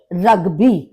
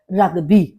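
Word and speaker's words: Rugby: रुगी दास रुगी यानी रग्बी देखिए इसमें स्पेलिंग आपकी सेम है जर्मन में भी और इंग्लिश में भी लेकिन जर्मन में इसका प्रोनंसिएशन होता है रुगी और इंग्लिश में रग्बी दास बॉक्सन दास बॉक्सन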